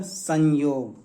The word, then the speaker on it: संयोग: में बदल जाएगा, मतलब संयोग। ये न का, ये जो अनुस्वार है न का उच्चारण देगा दोस्तों, ठीक है, संयोग।